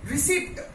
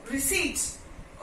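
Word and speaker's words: receipt: बोलते हैं क्या रसीद रिसीप्ट रिसीप्ट नो रिसीट okay P silent over here रिसीट psychology when P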